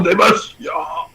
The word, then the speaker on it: Demacia: pour moi, Demacia, ça se prononce pas comme ça se prononce Pro Demacia.